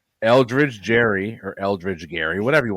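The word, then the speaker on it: Gerry: Now pronounced Jerrymander. It is Gary. Well, him. We're gonna pronounce his name incorrectly if he's going to do this Eldridge Jerry or Eldridge Gary, whatever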